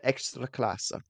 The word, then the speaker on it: Ekstraklasa: The Ekstraklasa.